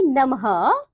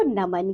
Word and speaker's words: नमः: इसका जो उच्चारण होता है हल्का हो की तरह होता है, जैसे कि नमः।